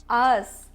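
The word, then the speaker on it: ağız: Yes, us. Us. Yani we pronounce it like a double sound. We ignore soft G and we say A like a double sound.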